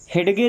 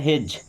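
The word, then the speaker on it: hedge: हेडगे नहीं पढ़ना है। क्या पढ़ना है? हेज।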